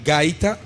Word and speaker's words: gaita: a traditional instrument, and you will have to pronounce it for me. But okay, it's called gaita, Gaita, gaita, and it's made from the cactus.